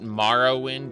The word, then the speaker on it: Morrowind: do people call it marrow wind as in ma uh because bone marrow is pronounced that way very often and so it makes